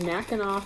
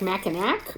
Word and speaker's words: Mackinac: And then the other one is Mackinac Fudge. So I'm assuming that's how she pronounces it. Like, yeah, because it's named after Mackinac Island. So it looks like Mackinac, but Michiganders pronounce it Mackinac.